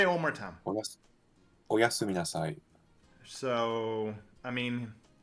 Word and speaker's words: Oyasumi nasai: Flawlessly pronounced too. Surely you've heard Oyasumi Nasai before. You've watched enough anime. Oyami Sumis. Say it one more time. Oyasumi Nasai.